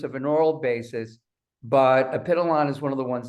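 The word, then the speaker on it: Epithalon: least from what we know now, is called apiteolon. Now, it's just like it sounds. It's spelled E-P-I-T-H-A-L-O-N, apiteolon.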